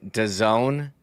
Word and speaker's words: DAZN: games exclusively on DAZN is how you pronounce the streaming service that's spelled capital D A Z N.